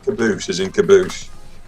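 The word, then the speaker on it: Qaboos: Caboose.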